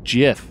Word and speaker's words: GIF: god that was annoying jeff what it's pronounced jiff like the yes like the peanut butter that is so grammatically